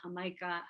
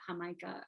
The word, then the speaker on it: jamaica: called zobo sour tea rosa de jamaica hamaika hamaika is spelled like the word jamaica so very popular in